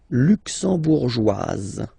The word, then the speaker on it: luxembourgeoise: Le Luxembourg, luxembourgeois, luxembourgeois, and then feminine form, luxembourgeoise. Okay? Same thing here, only difference, joie, joie, joise, okay? You insist on it.